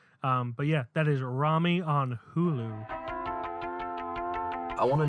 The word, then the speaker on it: Rami: I'm gonna say rammy it's Rami that's the that's how uh they the uh um Egyptians would pronounce it um and he's Egyptian so also speaking of Rami